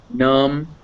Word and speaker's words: numb: So yeah, so climb, climbing, comb, combing, numb, numbing. It's always pronounced just if it's after an M.